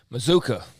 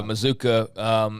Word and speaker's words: Mazkua: Mazuka. Like bazooka. Right. Yeah. It's spelled Mazkua, though. But, yeah, Mazuka.